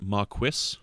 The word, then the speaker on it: Maquis: Zach, it's pronounced Maquis. Oh, excuse me. Is that like quesadilla?